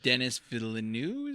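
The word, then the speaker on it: Denis Villeneuve: Also, Dennis Villeneuve is how you pronounce his name.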